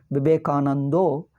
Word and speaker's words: ವಿವೇಕಾನಂದ: ಆನಂದೋ ಹೇಳ್ತಾರೆ ಅಕಾರವಿಲ್ಲವೋ ಏನೋ ಬೆಂಗಾಲಿಯಲ್ಲಿ ಅನ್ಸುತ್ತದೆ ಎಲ್ಲ ಆಕಾರಗಳು ಓಕಾರ ಹೇಳಿಬಿಡುತ್ತಾರೆ ವಿವೇಕಾನಂದೋ ಶಾಮಿ ದೇವಾನಂದೋ ಸ್ವಾಮಿ ಸ ಇಲ್ಲ ಅದಕ್ಕೆ ಶಾನೆ